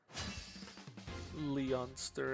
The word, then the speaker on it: Leonster: Leonster instead of Lannster that I'm so used to. I just call it Lster. I've already pronounced it Lannister. So now I have to get used to this other pronunciation here.